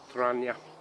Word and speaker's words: Trangia: It's the famous Trangia stove. Now remember, the G is silent, it's Trangia stove.